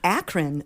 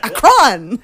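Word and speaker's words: Akron: It's Akran, Ohio. Acron, Ohio. In Canadian they say Acron like it's space.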